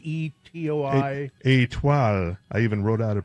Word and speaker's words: Étoile: Étoile. I even wrote out a pronunciation for myself.